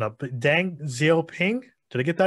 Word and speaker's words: Deng Xiaoping: So, Deng, Simon, I'm gonna mess this pronunciation up. Deng Xiaoping, did I get that right? Deng Xiaoping, perfect.